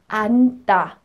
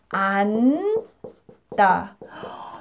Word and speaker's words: 앉다: 앉다. Oh, there are two 니은 and 지읒 in the 받침, right? It's weird, but it's okay. We just pronounce the first one.